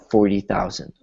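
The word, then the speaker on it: forty thousand: And so instead of it being 4T, it's 4D, kind of like a D or a soft T.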